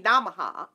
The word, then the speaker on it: Namaha: And sometime I do Om Shreem Brizzy Namaha.